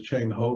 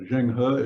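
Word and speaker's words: Zheng He: was Zhang Hood um it used to be known as Cheng ho before they changed the spelling and the pronunciation but zhengha is the official way we talk about this guy you may have seen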